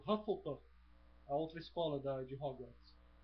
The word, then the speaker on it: Hufflepuff: Hufflepuff. Hufflepuff. A rima, em inglês, a sonoridade desse fonema em inglês soa parecido com ufa em português. E como fica meio fofinho, né? Hufflepuff, Lufa-Lufa.